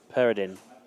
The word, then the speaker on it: Peridin: We're being told it's not par, it's per. Peridin.